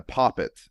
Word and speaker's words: poppet: I had a poppet at one time. I believe that's the pronunciation for voodoo, right?